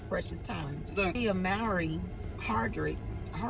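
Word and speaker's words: Hardrict: Tia Mowry Hardrick, how do you say her last name?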